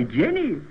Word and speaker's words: genie: it is nothing I simply call upon my genie uh isn't that pronounced Genie not on this commercial